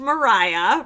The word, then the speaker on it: Maria: So, Maria, pronounced Mariah, right? Like, I think that was so confusing in both episodes, but Mariah is unfortunately eliminated at Tribal Council.